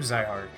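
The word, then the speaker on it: Zihark: the point you i'm z heart i guess it's actually pronounced i heart i'm zyhark well metliff whoops i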